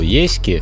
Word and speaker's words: Ески: Главной и единственной причиной остановки в деревне Ески — как я понял, ударение падает на первую букву — расположенной на слиянии